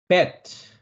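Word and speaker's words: בית: bet, bet, bet, bet. 알렙, bet. 그죠? 네. 세 번째 단어는 반각입니다. bet는 비읍 발음이었습니다.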